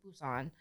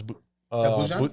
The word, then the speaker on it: Busan: Well, it's Busan, but they pronounce their B's like P's, so it's Busan.